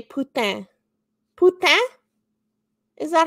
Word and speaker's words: putain: We say putain. Putain? Is that how you say it? Putain.